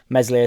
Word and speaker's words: Meslier: issued an apology to meslier silent s and there's a strong